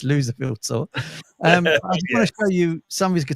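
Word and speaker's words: Loserville: tour it's called the the lville tour he pronounces it the lucil V tour but it's not right it's loser field tour um I want to show you some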